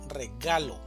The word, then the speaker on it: regalo: La mayor fuerza de voz va a estar en la sílaba ga, regalo, regalo.